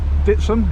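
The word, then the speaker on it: Dittisham: and this is uh ditson it's actually spelled detection but it's pronounced ditson by the locals over here on this side green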